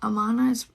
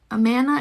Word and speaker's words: Amana: had eight cars off so that's like a um amana's Amana is pronounced like Amanda without the D okay Amana I thought